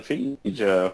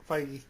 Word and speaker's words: Feige: your comics and everything, and even like Kevin Feige, who works for Marvel, is like, dude, I was looking forward to Suicide Squad. Kevin, to really, Feige. Gotta be that. What was guy. that? It's Feige.